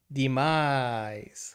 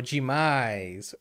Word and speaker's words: demais: In Portuguese, we have an expression, demais or demais, depending where you are from, the pronunciation is different. And some people, even like in Rio de Janeiro in Brazil, they say demais.